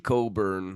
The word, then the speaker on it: Cockburn: Just like Illinois big man Kofi Coburn, spelled Cockburn.